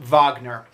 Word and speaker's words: Wagner: Egon Voss so right if you don't know vogner the the name is spelled w AG in ER like Wagner but I believe it's spelled sorry i believe it's pronounced vogner he's a classic opera composer probably most famous